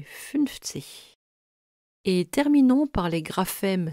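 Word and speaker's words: fünf: Et notez que les Allemands du nord disent non pas funz mais funf.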